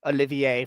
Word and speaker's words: Olivier: the name it it it has an accent in it so it looks like it's Olivier yeah Olivier fight yeah look Olivier kind of a freny which is why